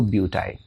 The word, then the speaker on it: butyne: So butyne. Right? Again, you see terminal A is not there because this Y is pronouncing like I.